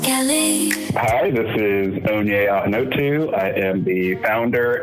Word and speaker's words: Ikenga: Hi, this is Onyei Ikenga II.